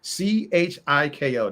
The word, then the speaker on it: Tchaiko: See, I wrote it Chiko. That's how I'm gonna pronounce it for the rest of the podcast. Because if I have that A and that I in there, I'm gonna mess it up.